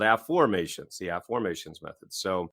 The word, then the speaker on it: Afformations: the way that is I'm not saying it wrong I'm saying a new word for most of our listeners it's spelled AF f o r m a t i o NS a formations not affirmations everybody who's ever read